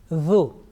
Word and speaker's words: ذ: So tip of tongue is touching the front upper teeth, that edge, and you are pronouncing this one softly with thin sound. Dhu, say dhu.